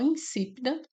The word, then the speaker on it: insípida: Então, insípida é o quê? Uma proparoxítona, né? A gente separa de que forma? si pidado. Então aqui o si é a sílaba mais forte, tendo aqui uma pro paroxína, certo?